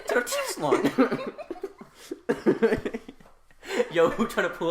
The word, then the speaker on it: Tenochtitlan: Tenochtitlan. Tenochtitlan. Just have your voice jump 2 octaves when you say Tenochtitlan.